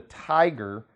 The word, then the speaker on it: Thaiger: And a recent article from the Tiger, and that's spelled Thaiger, and the Tiger is a really nice news source.